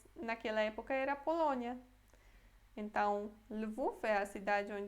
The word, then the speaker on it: Lwów: Em polonês é Lwów. Lwów.